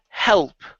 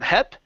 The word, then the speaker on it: help: Let's go to the word help. Okay, so make sure to pronounce this L sound here instead of hep.